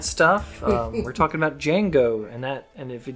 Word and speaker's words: Django: uh we're talking about django and that and if you didn't know the d is silent and that's jingo and chain to be yes django unchained and um my initial